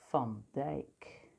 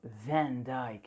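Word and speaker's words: Van Dyck: you out there because that would be thumb dyke so not van dyke it's not a van it's not a vehicle it's ah i guess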